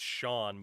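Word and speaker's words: Chone: I wonder how many people don't realize that C H O N E is pronounced Shawn, by the way.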